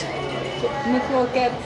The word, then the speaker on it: McKroket: So this is, how do you pronounce this? McKroket. McKroket.